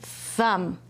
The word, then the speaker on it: thumb: Thumb. Good job. There's that M B at the end that says, mm.